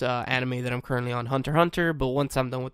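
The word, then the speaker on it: Hunter × Hunter: Hunter x Hunter, but I think the X is silent in the middle.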